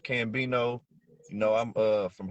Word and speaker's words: CcCambino: some more people here spelled with three C's but it's just pronounced cambino you know I'm uh